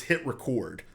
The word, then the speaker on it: HitRecord: it's not hit record it's hit record like record a video and then the hahaha